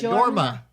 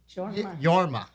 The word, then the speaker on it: Jorma: his name was uh yorma yorma yeah with the they always pronounce with the Y Tamil and um so